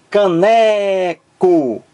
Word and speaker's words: caneco: mais forte pronuncie aí caneco canco a mais forte aqui é a sílaba do Meio n é aquela que